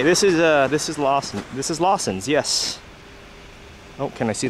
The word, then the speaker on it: Lawson: Here's the thing though, if you actually say Lawson to a Japanese person, they're not going to understand what you're talking about. You actually have to use the Japanese pronunciation. Lawson's. Lawson.